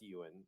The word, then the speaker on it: Eoghan: It's Gaelic. It's Eoghan. It's pronounced Ewan, and it's Okay.